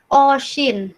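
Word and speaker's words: осень: Terus ada Oshin. Nah, sekali lagi ada pengecualian kan di sini, harusnya kan ini dibacanya E, tapi malah dibacanya I.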